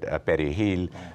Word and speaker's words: perejil: if they could not pronounce the word perejil, parsley, because they couldn't roll the R, then they were subject to being massacred.